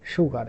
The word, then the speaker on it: sugar: Uh but uh this sound also can be from this s like uh this sugar. This is not sugar. This is actually sugar. And this is irregular pronunciation.